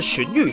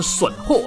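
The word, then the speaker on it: 荀彧: 点低啊，小时候不知道这两字怎么念，都念成损货啊，看还有同学念成狗货或巨货，反正都是有边念边，没边念中间。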